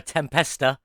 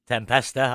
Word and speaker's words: Tempesta: project, the Pagani Huayra Tempesta. Tempesta. I said it wrong last time. I said the Tempest. It is the Tempesta with an A on the end.